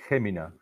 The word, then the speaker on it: Jumilla: Well, we pronounce it the same way that you pronounce the H or J, Jumilla, Jumilla.